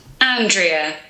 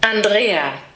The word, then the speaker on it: Andrea: So the British pronunciation? Andrea. And the German pronunciation? Andrea. So different, so different.